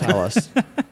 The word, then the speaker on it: Hellas: I was trying to pronounce Hellas correctly. Yeah, it's Hellas.